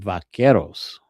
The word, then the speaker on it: Vaqueros: And Vaqueros. Vaqueros. Vaqueros. I can't roll R's.